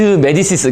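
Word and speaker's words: Médicis: 마리드 메디시스가, 그러니까 마리드 메디시스, 불어식으로 발음한 거죠. 그죠? 메디치 하면 이탈리아식이 되겠고요.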